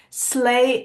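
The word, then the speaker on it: sleigh: did for this one slay is a hard word cuz it doesn't sound anything like how is spelled um the first two letters are the easiest ones then you have to remember the order of these vowels and then you have to remember the silent G so split it up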